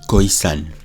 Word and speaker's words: Khoisan: Alors, quand on dit Khoisan, dans Khoisan, il y a deux syllabes. Il y a deux sons. Il y a Khoi et il y a San.